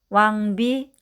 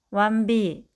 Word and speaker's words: 왕비: 이응과 디귿이 만나면 몽돌, 앵두. 이응과 비읍이 만나면 왕비, 흥부. 미음과 디귿이 만나면 검도, 침대. 인데 말을 배우고 있는 아기나 발음에 서투른 사람이 간혹 몬돌, 앤두, 완비, 흠부, 건도, 침대처럼 소리 낼 때가 있습니다. 뒤 첫 소리를 너무 일찍 준비해서 그렇답니다.